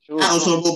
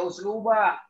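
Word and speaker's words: أسلوبُ: Uslubub mamin. Ya uslub. Uslubu, jangan dibaca usluba.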